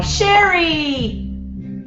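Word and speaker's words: Chere: Oh, Sherry! Now I know how to say it. Sherry in Pennsylvania. It's spelled C-H-E-R-E.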